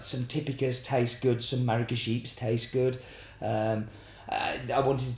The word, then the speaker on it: maragogype: Pronounced maragogype, this varietal is found in Brazil and is a mutant from the Typica varietal.